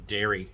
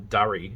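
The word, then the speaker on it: Darry: with justin long who who plays uh dairy or durie in there it's spelled d-a-r-r-y in the film i could swear she's saying dairy in the spelling it's like d-a-r-r-y which is quite funny because durie in australia is a slang term for cigarette sorry she's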